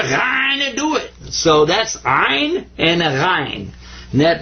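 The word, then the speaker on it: عين: And this guy's name is Ein. In ein, you kind of squeeze the back of your throat when you pronounce this one.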